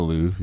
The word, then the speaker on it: Louvre: It's the Louvre. How That's do you fine. fucking say that shit? Louvre. But Yeah. just don't. We're not French. Yeah, Louvre, yeah.